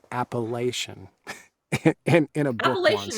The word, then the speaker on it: Appalachian: It's Appalachian, not Appalachian. I don't care what you fucking say, and screw that college. I'm from there, and that's how you say it.